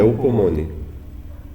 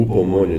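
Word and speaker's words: ὑπομονή: A palavra grega para perseverança é upomone, ou upomone, dependendo de como se pronuncia o H, né?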